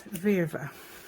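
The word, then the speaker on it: Virve: I looked up and apparently it's Viva V over okay so hopefully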